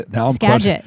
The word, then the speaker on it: Skagit: Now I'm Skagit.